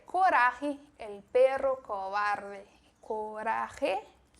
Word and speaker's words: Coraje: Coraje, o pronúncia bem esse J com o som do R.